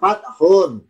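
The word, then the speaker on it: فَتْح: Lafaznya fathun. Fa ta ko ha. Fathun. Tanya-nya sukun. Fathun artinya pembukaan atau fathatun ya.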